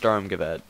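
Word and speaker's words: Sturmgewehr: it's a very good rifle now how's the storm Gazette use in game and yes it is pronounced stormgavette um it is probably the best it's the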